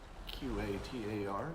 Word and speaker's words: Qatar: The tiny country of Qatar, Q-A-T-A-R, for those of you who have only read the word and wondered how to pronounce it.